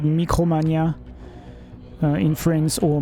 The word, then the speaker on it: Micromania: GameStop which is called Mikromania uh in France or Micromania if you want to if you want to pronounce it the English way.